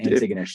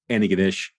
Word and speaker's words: Antigonish: I think I went Antigonish. So yeah, did I get that wrong? The locals just go Antigonish. Oh, love it. Antigonish. It's like all slurred together. Antigonish? Going up to Antigonish.